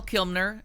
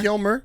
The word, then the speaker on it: Kilmer: so we'll start with that um okay Val kilmner is uh Kilmer no n I wanna call him Kilmer Kilmer